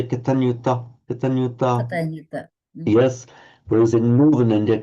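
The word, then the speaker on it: kataññutā: Excuse me, because I'm learning Sanskrit, the Katanyuta should have gone higher, longer.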